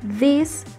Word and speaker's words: this: La diferencia de la pronunciación es que en plural tienen que pronunciar la i por mucho más tiempo. En singular es this, en plural es these.